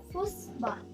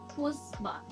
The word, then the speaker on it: Fußball: අපි example එකක් විදිහට ගත්තොත් මෙතන තියෙනවා මේක අපි කොහොමද pronunciation වෙන්නේ කියලා. මේක Fußball. Fußball.